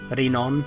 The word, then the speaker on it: Renon: Renon, that's how you say it in Japanese.